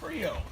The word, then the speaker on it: Creole: They started to make it a 2-syllable word, which is Creole.